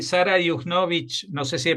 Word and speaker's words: Juchnowicz: Y Sara Yugnovic, no sé si he pronunciado bien tu apellido.